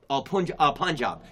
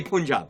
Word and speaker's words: Punjab: The pronunciation is Punjab. Yes, Punjab. But Westerners say, I know, we say Punjab.